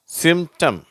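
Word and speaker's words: symptom: இதை நம்ம எப்படி உச்சரிக்கிறோம் டெம்ட் அந்த பி என்ற உச்சரிப்பு வரதில்லை அட்டெம்ட் சிம்டம் ஓகேவா டெம்ட் அட்டெம்ட் சிம்டம்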